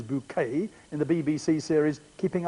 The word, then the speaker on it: Bucket: Higher Synth Bucket, which she pronounces bouquet in the BBC series Keeping Up Appearances?